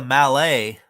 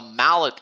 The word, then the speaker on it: Mallet: Looks like a Malay. Like a mallet locomotive. Oh, I pronounce it Malay with a silent T at the end.